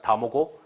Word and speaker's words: DamoGO: In Korean, it's pronounced DamoGO.